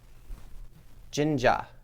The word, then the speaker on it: jinja: like the kanji for jin jinja i think is how you say it uh i think dan